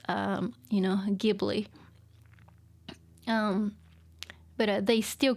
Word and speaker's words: Ghibli: He insisted that, oh no, my Italian friend pronounced it as Ghibli, so let's go with Ghibli. And his co-producer, slash mentor, Takahata-san, saying like, no, what are you talking about? It should be Ghibli.